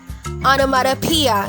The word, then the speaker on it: onomatopoeia: Notice that this word has 6 syllables. Ngayon pag-aralan natin ang bigkas ng bawat pantig nito. Ang una, bagamat ito ay O, ang bigkas dito ay A. A. Sa second syllable ito ay na, ana, ana. Pangatlong pantig ay ma, ma. Tapos t, t. Pwede mo rin gamitin ng soft D, onomata, onomata.